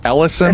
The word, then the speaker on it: Ellison: It looks like it says Elias, but it's always like Ellison. I think it's how you pronounce it. Ellison.